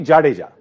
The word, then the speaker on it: Jadeja: No, but for overseas commentators, Jadeja is the most difficult word to pronounce. But it's actually Jadeja. Jadeja, correct.